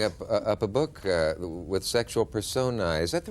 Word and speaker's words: personae: Well, imagine that I'm holding up a book with sexual personae. Is that the right pronunciation? Sexual personae, yes.